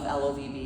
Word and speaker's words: LOVB: Um after 2024, League One Volleyball, LOVB, it's pronounced like love, not love beer or anything like that.